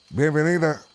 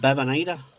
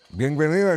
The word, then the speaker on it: Bienvenida: How do you say that? Bienvenida. Are you sure? Bevanita? Bienvenida, sí.